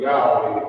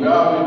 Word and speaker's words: Yahweh: In order to make the Hebrew tetragrammaton pronounceable Yahweh in English, as it is pronounced Yahweh by the Hebrew speaking people, we as English speaking